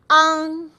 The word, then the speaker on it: ang: English word aunt, but you want to open your mouth wider and say ang. Or you can think of ang as ahng, but just make sure you don't overpronounce the g at the end or the g at the end.